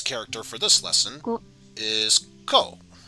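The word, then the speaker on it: こ: for this lesson is ko and of course pronounce it as co and in this case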